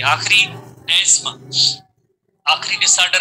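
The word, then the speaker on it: asthma: जैसे आमतौर पे जैसे हम लेमेंस लैंग्वेज में इसे कहते हैं अस्थमा कहते हैं, बट इसका जो सही लफ्ज है एस्मा, प्रोनाउंसिएशन है एस्मा, एस्मा, एस्मा, अस्थमा नहीं है।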